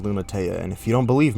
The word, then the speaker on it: Lunatea: yes it is actually pronounced lunatea and if you don't believe me there you